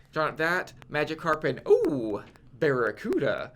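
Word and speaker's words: Barraskewda: Drawn up that Magikarp and Barracuda. Like it's the word Barracuda, but it's spelled with a K.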